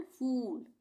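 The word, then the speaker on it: fool: इसको हम कैसे पढ़ेंगे? फूल नहीं पढ़ेंगे। इसको हम पढ़ेंगे फूल। एफ डबल ओ एल फूल खींच के।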